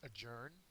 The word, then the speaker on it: adjourn: words first word is adjourn it's not pronounced adjourn uh it's a verb the second syllable is accented and it means to